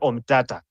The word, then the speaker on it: Omtatah: pronouncing the name wrongly it's not omia it is okia omata so that's something that